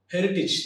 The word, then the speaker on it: heritage: That is courage and heritage. Often we pronounce these two terms like courage and heritage.